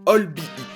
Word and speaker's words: albeit: En effet, c'est comme ça que je le prononçais avant de découvrir la semaine dernière que c'était en fait albeit. He was a quiet, albeit brilliant boy.